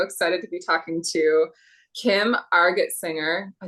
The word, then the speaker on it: Argetsinger: I'm so excited to be talking to Kim Argetsinger.